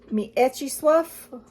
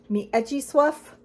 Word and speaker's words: Mieczysław: The translator hilariously puts in, for us dumb Americans and English speakers who don't speak Polish, the pronunciation, which is Mieczysław Wojnicz. Mieczysław Wojnicz.